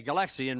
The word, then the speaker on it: Galaxian: is that Galaga or galaxin uh Galax okay galaxian right I mispronounced it that's correct though number two merer